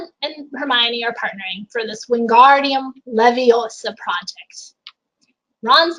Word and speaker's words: Wingardium Leviosa: then she shows him it's Wingardium Leviosa nice and long now how do you